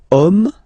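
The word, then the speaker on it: homme: we've get the word om man okay but then it start with Ash as in French Ash is not pronounced so the first sound that we hear is O Okay and then it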